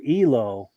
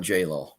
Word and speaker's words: JLO: by bud nap that JLo is pronounced Elo Elo yeah yeah yeah we we americanize it and call it JLo sure yeah nice yeah